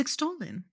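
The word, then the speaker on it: Exalin: Miss I cannot pronounce exolen to save my life. It's extolin. Sure. E X A L I N. Extolin.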